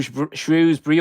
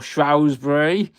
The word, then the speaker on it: Shrewsbury: It's a bit like Shrew Shrewsbury or Shrosbury. Depends which neck of the woods you're from on how you pronounce that particular place.